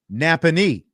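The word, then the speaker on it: Nappanee: Napony is how you say it.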